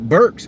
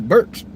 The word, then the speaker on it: Burke: It sounds like Burks, but you spell it with a T, Burks.